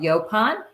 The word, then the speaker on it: yaupon: United States and um it's called yopon how do you spell it it's y-a-u-p-o-n and um it is